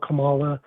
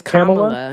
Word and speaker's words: Kamala: say something nice about Camala. I don't want to get emotional here. Sorry. Did you say Kamala? It's Kamala. If you can't say Kamla, just say Miss Harris